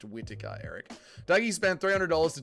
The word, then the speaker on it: Whittaker: It's pronounced Whittaker, Eric.